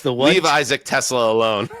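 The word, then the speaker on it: TeSlaa: I think it's Tesla, but it's spelled TE capital SLAA.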